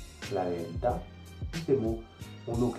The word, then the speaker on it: verità: C'est-à-dire que si vous voyez un mot avec un accent grave, vous devez le prononcer en insistant sur la dernière syllabe. Par exemple, il caffè, la città, la virtù, la verità.